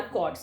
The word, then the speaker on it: chord: यस, ऑल 3 of them are कॉर्ड्स. ये क्या है? कॉर्ड. CHORD. एच यहाँ पे साइलेंट होता है. ठीक है, आप चॉर्ड नहीं पढ़ेंगे इसको, you call it एज कॉर्ड. आप इसको कॉर्ड पढ़ेंगे.